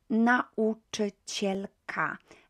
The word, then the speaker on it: nauczycielka: So notice that vowels like that don't get squashed when it comes to pronunciation. When it comes to Polish, they are pronounced separately.